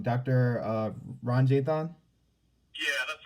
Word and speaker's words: Ranjithan: time today i don't want to get your name wrong doctor uh ron jay-thon yeah that's right that's right yeah everybody here